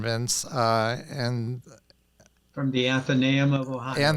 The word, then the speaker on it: Athenaeum: And then the second one in theology, and you're going to have to help me with the pronunciation, Vince, and From the Athenaeum of Ohio. Athenaeum of Ohio, thank you, in Cincinnati.